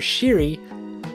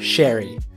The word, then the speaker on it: Sheary: While the NHL Pronunciation Guide and NHL 22 still have the pronunciation as Connor Sheary, the correct way to say his name is Connor Sherry.